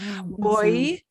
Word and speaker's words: voy: No, it won't have that V sound. It'll have a B sound. Voy, vas, va, Vamos, van.